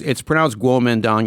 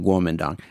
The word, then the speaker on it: Kuomintang: Yeah, it's pronounced Kuomintang. You'll see it spelled like as if it's spelled Kuomintang or Yeah. Tang. That's you pronounce it Kuomintang.